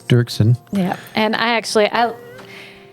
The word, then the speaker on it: Dirksen: Dirksen yes Brian Dirksen it's spelled looks like dorksen but it's Dirksen yeah and I actually